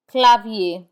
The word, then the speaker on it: clavier: for i e r we do not pronounce the r in i e r instead it has the a sound Pap Pap which means paper clavier which means keyboard clav